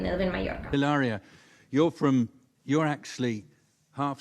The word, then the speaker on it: Hilaria: It's not even hilaria. There is no H. There's no H.